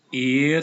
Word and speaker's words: ihr: Ihr pasangannya dengan, ini cara bacanya E dan I dibaca I. Ihr seid.